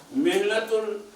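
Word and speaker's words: مهنة: লিখে নাও তোমরা একটা পয়েন্ট, মেহনাতুল মুআল্লিম, মেহনা ছোট হা দিয়ে, আমি তোমাদের কথা কাছে শিখে দিলাম ছোট হা, আসলে উচ্চারণ বোঝা যায় যে হা কোনটা, হা না হা, তাই না?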